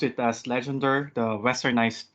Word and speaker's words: Legendre: i pronounce it as legendre the westernized pronunciation sometimes i pronounce it la john which is i think legend is french so yeah but anyway so